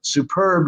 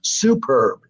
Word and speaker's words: superb: Like you don't say cannelloni, you say cannelloni, you know, and superb, you don't say superb, you say superb. So the emphasis there, you have to figure out what syllable the emphasis has to be on.